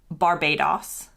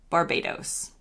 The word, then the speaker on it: Barbados: In the UK, they call it Barbados, and in the US, we say Barbados. So it's an os versus an os.